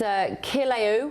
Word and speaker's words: Kilauea: It's Kilauea, I presume it's pronounced.